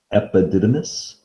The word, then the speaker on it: epididymis: the testes are the testicles then there's the epididymis i should slide that up so i don't have to get rid of this e p i d i d y y m i s that's pronounced epididymis then the vas deferens i made it through